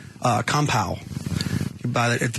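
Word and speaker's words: kampai: He he pronounces it compow is what he said.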